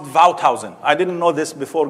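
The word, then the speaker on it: Wouthuysen: in Amsterdam about this is a Dutch name you should pronounce it vowed housing I didn't know this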